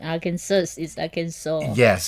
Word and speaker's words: Arkansas: SAS and then there's another state that it's Kansas but with a are in front of it but it's not pronounced AR Arkansas yeah it's pronounced Arkansas organ song like aw instead of as but the weird the